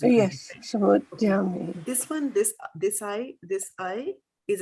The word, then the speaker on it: samudyame: Not they, me, there. Samudyame. Right? Because this is A, this is E. They have to pronounce it. Yes, samudyame.